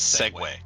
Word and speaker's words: segue: You know it's a weird word like that is segue. Oh because the way it's spelled.